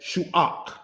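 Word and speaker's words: Shuah: Shu'ah, said as shu'ak. Shu'ak.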